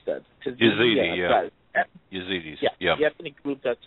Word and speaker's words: Yazidis: I just don't know how to pronounce that. Yazidis, yeah.